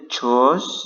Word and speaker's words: chose: Choose ini asalnya dari choose, gitu ya. Ini bacanya chose, yang ini dibaca chose, sedangkan yang ini dibaca choose. Oke, ini verb satunya, dan yang ini verb 2-nya.